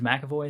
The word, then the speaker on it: McAvoy: Because I mean, with say Split, James McAvoy is how you say his name? Yeah, McAvoy.